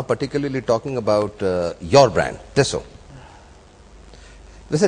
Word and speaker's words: Tissot: I call it टिसो, बट आप कुछ बता रहे थे कि फ्रेंच जो कहते हैं वो क्या कहते हैं? No, the French pronunciation is Tissot.